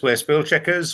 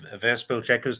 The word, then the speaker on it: WereSpielChequers: known on Wikipedia as where spill Checkers or or ver spill Checkers depending on how you want to pronounce that uh but Jonathan is